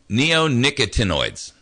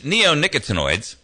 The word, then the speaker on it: neonicotinoids: and you have to forgive me if I mispronounce this word, it's neonicotinoids.